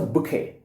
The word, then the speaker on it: bouquet: nice polythene wrapper which shines, it becomes a bouquet.